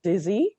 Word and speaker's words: Desir: So my name is Desir, as you guys know, even if it's spelled almost like desire.